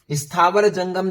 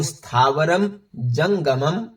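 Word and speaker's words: स्थावरं जंगमं: स्थावर जंगम चैव नहीं बोलना है, आपको स्थावरम जंगमम चैव ऐसे बोलना है।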